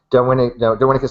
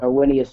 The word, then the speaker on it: Darwinius: Darwinicus macellus, is that how you pronounce it there, Isaiah? Darwinius macellus.